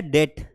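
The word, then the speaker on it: debt: उसके अलावा यहां पर टी के पहले बी आएगा। जैसे आपने एक वर्ड सुना होगा बेटा डेट, DET कर्जा। अब कर्जे को हम इसको डेप्ट नहीं पढ़ते, इसे डेट पढ़ते हैं,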